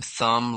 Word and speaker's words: thumb: Common silent letters. Silent K. No, knife, night, knock, knee. Silent B. Doubt, det, climb, thumb, lamb.